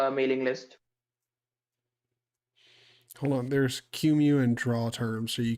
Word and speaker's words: QEMU: It's pronounced QEMU. Yeah. QEMU. Is it really? Is that how you're Yeah. is that how you're supposed to pronounce it? The official short pronunciation is QEMU.